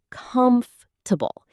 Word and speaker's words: comfortable: The stress is on the first part, comfortable.